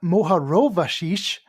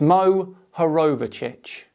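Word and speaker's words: Mohorovičić: moho in 1909 Andrea moar rashish even when there is a phonetically spelled word clear for anyone to see Kyle still gets it wrong it's Mo herovic a Croatian scientist discovered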